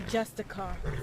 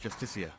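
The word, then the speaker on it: Justiciar: He's a Justicar, a Thalmor. It's pronounced Justicia.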